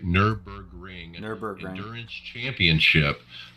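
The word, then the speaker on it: Nürburgring: and um yeah the the ner berg i can't even say it right nurburgring and their burger endurance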